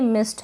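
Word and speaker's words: missed: अब ये मिस्ड लग रहा होगा लेकिन ये मिस्ड है, यानी ट का साउंड थोड़ा बहुत आ रहा है।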